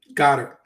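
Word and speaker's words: Goedert: this how do you how do you pronounce the tight end for Philadelphia got her thank you boom we know it's got her I'm just always gonna go with go dir because that's really what it is he just doesn't want us to say it that way we we basically had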